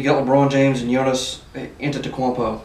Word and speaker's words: Antetokounmpo: You got LeBron James and Giannis Antetokounmpo. That's exactly how you say it.